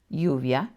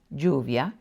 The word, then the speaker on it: lluvia: The only difference is that when you have a double L, it sounds like the English Y, J, or SH, depending on where you live.